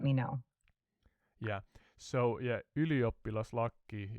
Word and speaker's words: ylioppilaslakki: Of course, please go ahead and teach me how to pronounce Iliopoulos Laki correctly. Can you say the letter Y? E. More Y, not E. Try Y.